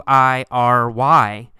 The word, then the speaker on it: wiry: see the word wiry it's spelled w w-i-r-y but in fact we say it with three syllables y er re wiry wiry wiry means